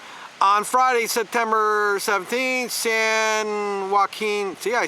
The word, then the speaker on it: Joaquin: On Friday, September 17th, San Joaquin, see, I said it right, Joaquin County District